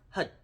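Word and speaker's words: Har: the word hud now when you see that that's h a r it's pronounced hud why because number one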